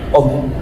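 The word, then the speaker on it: ohm: Apa bacanya ini, Om? Oke, Om ya. Jadi bukan tante ya. Ini adalah simbol hambatan atau om.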